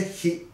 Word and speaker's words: 比: この比べるという字ですね、こう書いて比と読みます。